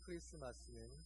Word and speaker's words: 크리스마스: 그런데 영어에서는 T라고 하는 그 단어가 묵음 처리되면서 크리스마스 그렇게 불려지다 보니 이제 우리에게는 크리스마스가 정식 표현인 것처럼 그렇게 굳어지게 된 것입니다.